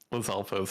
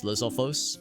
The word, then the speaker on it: Lizalfos: Also, it just occurred to me, I think I've been mispronouncing it, or like wrong emphasis all these years. I always thought it was Lizalfos, but I like how you say it, Lizalfos. Like the emphasis. I don't know what the proper way is. Now that you mention it. I like yours better. I don't know which is correct, but yours sounds cooler.